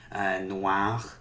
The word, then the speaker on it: noir: Noir, noir. This R is pronounced either way.